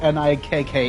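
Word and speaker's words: NIKKE: Nike wife who's and I Wait, is it Nike or is it N I K K E? Come here. How do you guys pronounce it?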